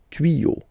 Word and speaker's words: tuyaux: Okay, des tuyaux. Same rule, you don't pronounce it.